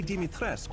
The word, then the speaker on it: Dimitrescu: Of course, Lady Dimitrescu will be there too.